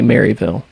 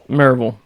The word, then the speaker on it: Maryville: I liked when you said you can tell that you're local to the area because you didn't say Maryville. It was Maryville.